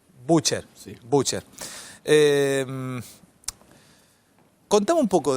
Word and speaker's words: Bucher: ¿Cómo se pronuncia tu apellido? ¿Butcher o Butcher? Batista Butcher. Butcher.